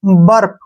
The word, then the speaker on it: burp: BURP, ठीक है ना, यू के बाद क्या आया है, आर आया है, तो यहां पर यू का जो उच्चारण है वो ए पढ़ेंगे। जैसे BURP, बर्प, क्या पढ़ेंगे इसको, बर्प।